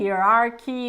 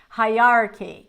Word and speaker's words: hierarchy: no Hier Ary hi hierarchy hierarchy hierarchy so there's a strict hierarchy in most corporations there is a strict strict hierarchy hierarchy just as there is a hierarchy of angels ranked in ascendant order see hi Archy again just as there is